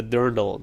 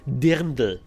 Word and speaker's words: dirndl: although the ladies look very nice, that's a dirndl. That's American pronunciation. I guess in Germany that's a dirndl.